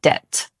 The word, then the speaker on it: debt: Number 9, debt. This word looks like it should have a B sound, but actually it doesn't. It's pronounced debt.